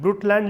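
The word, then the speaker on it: Brundtland: कहते हैं ब्रुटल आयोग ब्रूट लैंड लिख लेंगे लिखिए ब्रूट लैंड य डी साइलेंट है कमीशन बट लैंड आयोग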